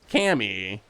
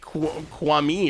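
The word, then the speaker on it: Kami: confused by so apparently there's an american pronunciation which is cami and then there's a japanese pronunciation which is apparently like kwami or something then what is the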